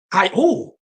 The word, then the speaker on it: Tayo: It's pronounced Okay. Tayo. Like Tayo, Kayo.